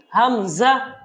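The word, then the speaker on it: ء: হরফটা কোন টান নেই আলিফ এবং হামজা এই দুইটা হরফের কোন টান নেই তো আমার সাথে বলুন হামজা হামজা কোন টান হবে না হামজা হামজা তারপরের হরফের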